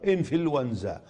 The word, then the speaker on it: إنفلونزا: وللتخلص من التقاء الساكنين ننطقها إنفلونزا، ولعل العامية قد أحسنت تعريبها على فلونزا، واشتقت منها الفعل فلوز يفلوز، فهو مفلوز.